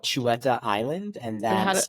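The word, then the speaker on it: Xut: documentary film is called Chua Island and that's how do you spell that it's XU T it's with an X it's like a Chu cha sound in the local language here so yeah x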